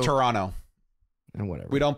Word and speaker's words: Toronto: show ahead of the time it was it's pronounced Toronto whatever we don't pronounce the heart T at